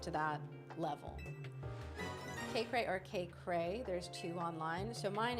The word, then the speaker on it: Kaycreigh: Kaye or K Cray, there's two online. So, mine is EI GH like that. It's a combination of my first and last name. Um, but it's pronounced K Cray.